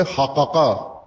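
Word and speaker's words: الحاقة: اور ایک ہے۔ حقاقہ، قاف کو قاف میں مدغم کر کے شد لگا کے حق پڑھتے ہیں، حقا، حقا، حقن، اور قاری بھی اس کو تلفظ طالب علموں کو یہی کراتے ہیں کہ اس کو اس طرح تشدید کے ساتھ پڑھو کہ 2 قاف مدغم حالت میں ادا ہوں، حقا۔ ہم پنجابی میں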